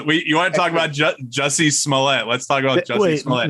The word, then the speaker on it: Jussie Smollett: How do you pronounce his name? Jesse Smollett. Oh, Smollett. Jussie Smollett.